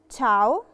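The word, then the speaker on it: ciao: فبقت كواره يعني قلب تشاو تشاو تشاو تشاو تشاو مشاو علشان احنا اتفقنا ان الحرف الاي في الكيس دي في الحاله دي ما بيتنطقش وبننطق الحرف اللي وراه على طول فهي تشاو شوكولاته تشوكولاته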